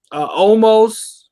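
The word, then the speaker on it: Omos: kind of disappointing umos I believe that's how you say his name but there's no a in his name it's just O's om o s how's it that's what I'm saying why is it Omas it should be it is that's why it's almost there's no a in there it was almost to start with I mean yeah it was it was then they changed the pronunciation but they didn't change the name I uh uh almost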